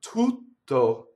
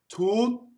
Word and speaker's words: tutto: Okay, so now we have the word tutto. We have two T's, right, in the middle.